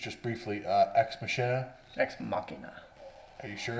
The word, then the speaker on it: Machina: Deus Ex Machina. That's how you pronounce it. It's Machina. It's Machina.